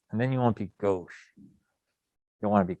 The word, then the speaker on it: gauche: considered gosh i don't even have how to pronounce that gauche that's how you say it it's considered a